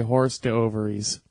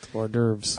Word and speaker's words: hors d'oeuvres: Yeah, my own Rickyism is, hors d'oeuvres, how it's spelled. Horse divorce? Yeah, no, I say horse to ovaries.